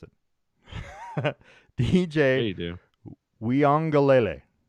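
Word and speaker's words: Uiagalelei: Weongalele is how you pronounce it, by the way.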